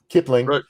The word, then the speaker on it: Kipling: Kipling.